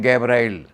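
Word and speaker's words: Gabriel: जो अंग्रेज वाले हैं उनका नाम लेते हैं गैब्राइल। वो जी का उच्चारण जो है गा करते हैं। तो गैबल नाम का फरिश्ता देवदूत वह उसके सपने में आया। हिंदी में उसको कहते हैं जिब्राइल। जा ग का उच्चारण जा करते हैं तो गैबल की बजाय वह जिब्राइल बन जाता है।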